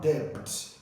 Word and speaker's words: debt: word like debt okay it's not debt it's debt and then we have